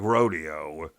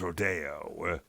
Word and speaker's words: Rodeo: which is just like the word just like rodeo, but spelled the same way. But in this manifestation, it's referred to as rodeo.